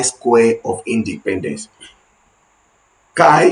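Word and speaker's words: chi: Kai some people pronounce it as chai ch h i² that's when you use k square and how do we conduct the analysis.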